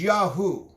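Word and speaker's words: YAHU: The word for the Creator is Yahoo. And what that means in Hebrew, it's spelled capital Y, capital A, capital H, capital U.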